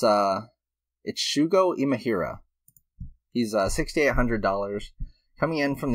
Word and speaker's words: Shugo Imahira: Let me find, I want to make sure I pronounce the name correctly, of course. Oh yeah, it's Shugo Imahira.